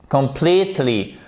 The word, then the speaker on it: completely: Completely, accent tonique ici, complètement.